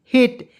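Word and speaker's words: hate: मैंने आपको बताया दो कंसोनेंट के बीच में ए आएगा उसके तुरंत बाद ई आना चाहिए उसका उच्चारण ए के रूप में करेंगे टी का ट लिखेंगे दोस्तों हेट हेट मीस होता है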